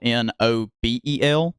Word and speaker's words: Nobel: everything else is either Noble seven spelled with capital n o b e l it's about like Nobel Peace Prize instead of noble like noble knight uh but it's uh